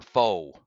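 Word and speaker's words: pho: and it's a a fur restaurant or Foe you know the pH I believe it's pronounced fur and and it said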